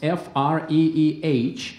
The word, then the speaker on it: Freeh: Your last name spells F-R-E-E-H. Yes. The pronunciation is free.